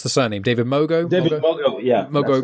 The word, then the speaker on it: Mogo: I haven't heard you pronounce the surname, David Mogo. Mogo, yeah, Mogo, right.